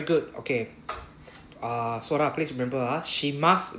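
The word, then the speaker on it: します: Sora, please remember, shimas, we don't need to pronounce the U at the last one. Not shimasu, just shimas.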